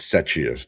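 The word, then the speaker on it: Czechia: I know how to pronounce it, but because I'm on the spot. Setia. It's Setia. Set it. Cetchia.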